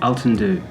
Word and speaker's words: Altandhu: Altandhu. Altandhu. Altandhu, perfect.